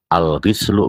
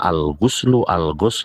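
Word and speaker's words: الغُسل: Karena buktinya dari kata al-ghuslu, dan al-ghislu saja itu bisa berbeda makna. Jadi al-ghuslu untuk mandi secara keseluruhan tubuh, kemudian al-ghuslu itu untuk mandi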